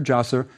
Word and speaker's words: Djoser: You'll see it spelled in 2 ways, Zoser, Djoser. The DJ spelling is closer. It approximates the serpent hieroglyph, but both ways are correct.